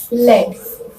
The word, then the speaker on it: lead: Second one is lead, which is a noun that means kind of iron and it is pronounced as led, right?